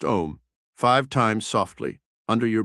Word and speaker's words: Om: Say the mystical mantra om pronounced om five times softly under your breath.